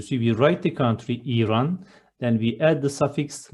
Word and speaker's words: İran: It is not Iran, it is İran. The first syllable is a bit long, İran.